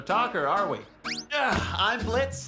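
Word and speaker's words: Blitzø: are we yeah I'm Blitz the O is silent now I'm sure we're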